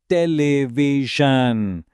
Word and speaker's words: television: Where is the stress in the word television? Take a moment think about the ending. Which rule applies here? And the answer is teleision. The stress is on V. Induku because of rule 4B. The word ends in io n. So the stress falls on the syllable just before it.